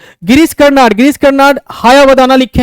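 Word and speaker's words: हयवदन: गिरीश देखिए तो जरा सा, गिरीश कर्नाड हायावदाना लिखे हैं, ठीक है ना। हायावदना इसका सही उच्चारण है, हायावदना। हाया मतलब होता है घोड़ा, वदन मतलब शरीर।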